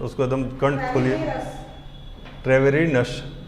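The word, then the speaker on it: Treviranus: ट्रेवेरिनस क्या है? आप बोलिए। ठीक है, मतलब एक्चुअली क्या है, ट्रेविरेनस है, ट्रेविरेनस।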